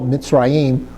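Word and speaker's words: מצרים: So you would spell mitzim with a a mim, a uh zadi, a rash, a y ude, and a final mim.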